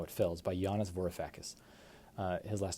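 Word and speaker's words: Varoufakis: Next up is talking to my daughter about the economy or how capitalism works and how it fails by Jiannis Vorifacus. Uh his last name is spelled V A R O U F A K I S.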